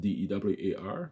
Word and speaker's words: Duar: So it's pronounced Dewar, Duar.